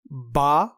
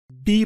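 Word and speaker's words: بِ: عام طور پر ہم اسے لکھتے یا پڑھتے وقت حرف جر با پڑھیں گے، لیکن عربی جملوں میں اسے تلفظ کرتے وقت ہم بی پڑھیں گے.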